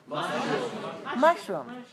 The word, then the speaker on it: mushroom: is a mushroom or is it a mushroom mushroom two one pronounced with a syllable higher on the first